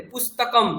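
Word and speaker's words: পুস্তকম্: সেইজন্য এই যে উচ্চারণগুলো হবে সেখানে আপনি শেষের অকারটাকে খেয়ে নিতে পারেন যে পুস্তকম এই শব্দটাতে পুস্তকম মানে বই বুক যেটাকে আমরা বলি পুস্তকম এখানে কিন্তু পুস্তক বলছি না কেন না ম এর পরে একটা দাগ রয়েছে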